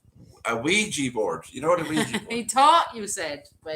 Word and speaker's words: Ouija: Oh, well Is it a done, Ouija or a Ouija Tracy. board to call it? Oh, I thought it was spelled with a Q. No, and it's Ouija. Hui as in yes and ja as in yes.